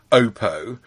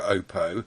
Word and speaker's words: Oppo: I've always said that um opo should be pronounced Oppo based on the fact that we had someone on the show on PSC one time who worked for Oppo and he called it Oppo and so I've